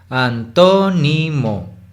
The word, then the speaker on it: antónimo: Así pueden distinguir fácilmente cómo en to es como si subiera, ¿no? Y el resto, y luego baja de nuevo al nivel normal. Antónimo. Entonces sabemos que en esa palabra to sería la sílaba tónica y el resto de